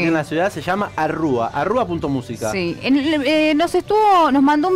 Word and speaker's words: Arrúa: Arrúa, con acento en la U, lo pueden encontrar en todas las plataformas, tiene nuevo videoclip. El recorrido de Arrúa ya lo hemos escuchado